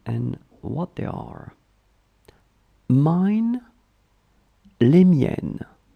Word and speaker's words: les miennes: So let's see how to pronounce them and what they are. Mine, les miennes, les miennes, les miennes.